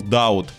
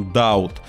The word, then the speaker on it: Дауд: а главарем банды был дауд да друзья именно дауд локализация локализации но ставить ударение в его имени на у просто потому что так решили пацаны став club я не